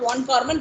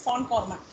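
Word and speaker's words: von Kármán: So usually it's not von Karman, it is von Karman. When though the spelling is VON, we need to pronounce the name as von Karman equation for boundary layer.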